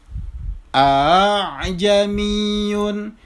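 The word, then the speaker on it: ءَا۬عْجَمِيٌّ: Yang benar bacanya adalah a'jamiyun. Jadi huruf alifnya itu di musahhala, ditashil. A'jamiyun wa arabi. Jadi bukan bukan juga a'jamiyun, bukan. Tetapi caranya adalah dengan cara ditashil.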